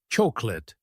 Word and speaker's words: chocolate: Most people try to pronounce every letter clearly, but we actually say chocolate. The middle part gets reduced and the whole word flows as one sound.